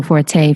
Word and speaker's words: Forte: Is it pronounced Forte? Yeah, it is.